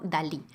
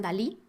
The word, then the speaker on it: DALL-E: generación de imágenes llamado Dalí haciendo referencia a Salvador Dalí y a Wally de la película de Pixar el modelo se escribe así como Wally pero con D este modelo funciona con